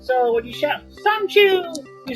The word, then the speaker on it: Son-Chu: And by the way, that's pronounced like the Chinese word Sonju. So when you shout Son-Chu, you're saying victory!